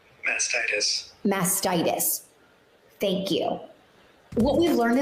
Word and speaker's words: mastitis: with mascara masticism mastitis hold up how do you pronounce it is it masticis mastitis what is it say it back to me mastitis thank you what we've